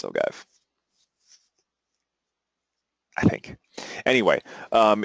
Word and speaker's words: ogive: comes up by default which is I believe pronounced ogive or ogive ogive I believe it's ogive I think anyway um it's a it's a